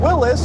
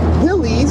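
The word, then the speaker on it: Willys: during World War II a company called Willis or Willies depending on how you pronounce it and Ford Ford that's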